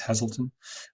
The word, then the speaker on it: Hazleton: So, for example, if someone was searching for screen printing Hazleton, I think it's pronounced Hazleton, and you've written screen printing Hazleton into your